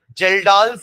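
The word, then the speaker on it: Kjeldahl: गया Duma method second जेल्डा method जेल्डा की spelling के से चालू करना के साइलेंट है जेई एल डी ए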